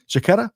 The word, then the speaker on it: Jaquetta: I've got images from Sofia there last year with our friend Jenny Froome and Jaquetta, right? I said that right, Sofia? Jaquetta? Yes. Right? You said it right.